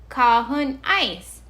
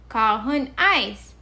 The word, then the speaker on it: Kåhon Ais: Kahun ice. Kahun ice.